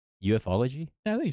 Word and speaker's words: ufology: play a prominent role in fantasy science fiction eupfology. Oh, u e ufology.